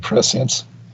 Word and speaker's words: prescience: I don't know how that word is pronounced. I believe prescience.